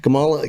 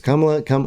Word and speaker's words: Kamala: Uh remember when uh Kamal the camel Harris Kamala came, it's Kamla, whatever. I already forgot how to say it right.